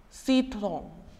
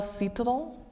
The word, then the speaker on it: citron: Next one, le citron. As I have discussed, pronunciation of R won't be as strong as it is in English. Le citron, lemon.